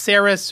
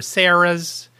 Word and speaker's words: Sarris: called Sarris candies and I'm not sure if it's pronounced saris or Sarah's it's s-a-r-r-i-s to me it would should be saris like Harris just with an S whatever it is there's